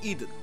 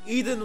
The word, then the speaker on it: Idun: Okay, I know it's spelled Idun here, but I refuse to believe that if this game ever gets localized names, that isn't gonna be Eden. Like, the Garden of Eden.